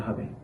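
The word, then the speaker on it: حاء: জিম এরপর হা হা এই হা হরফটি উচ্চারণের সময় হলক বা কণ্ঠনালীর মধ্যবর্তী স্থান থেকে একটু চাপ দিয়ে হা হা এভাবে উচ্চারণ করতে হবে।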